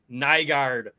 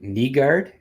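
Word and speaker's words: Nygård: it uh Mikhail bransek nigard I know like it's kneelander it's not nylander so the Y I think is pronounced like e so knee guard and I think that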